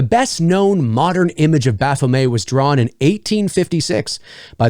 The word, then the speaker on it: Baphomet: winged hermaphrodite known as Baphomet, I believe is how you pronounce that in French. In English, I believe it's just Baphomet, flanked by 2 smiling children.